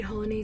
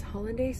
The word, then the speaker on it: hollandaise: bowl with like homemade holiday sauce hollandaise sauce yeah that's how you say it so so good um